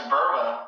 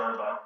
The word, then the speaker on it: Burba: It's Burba. Yeah, you pronounce it Burba.